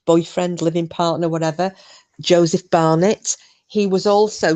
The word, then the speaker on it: Barnett: living partner, whatever, Joseph Barnett? He was also, sometimes it was mispronounced as Barrett. So Joseph Barrett or Joseph Barnett.